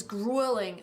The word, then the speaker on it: grueling: I would say schwa sound, grueling.